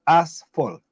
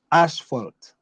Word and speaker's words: asphalt: Also, the correct way to pronounce the word is asphalt, not asphalt, as some people say.